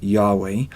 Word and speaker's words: Yahweh: in Hebrew of hey most scholars believe God's name was originally pronounced Yahweh for the last couple